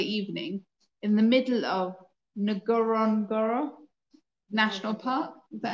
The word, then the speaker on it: Ngorongoro: However, as we waited for dinner at the Lodge restaurant last Friday evening in the middle of Ngorongoro National Park, is that how you say it? Yeah, Ngorongoro National Park, a miracle happened.